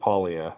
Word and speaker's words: paglia: It's like, you know, the beginning is like catchuri and then silent G at the end. Polia.